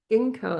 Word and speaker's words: Ginkgo: Ginkgo, that's it. Ginkgo. I say J. I said a G wrong, I think.